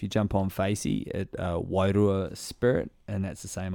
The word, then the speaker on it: Wairua: Wairua. Wairua. There it is, man. And you roll the Roll the R.